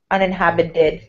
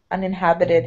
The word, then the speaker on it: uninhabited: surrounding the t um in american english when a t is surrounded by vowels it's pronounced like a d uninhabited so that's where that sound comes from uninhabited house uninhabited mm-hmm exactly